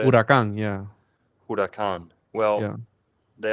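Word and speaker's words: Huracán: Huaraca? How do you say it? Huracan, yeah.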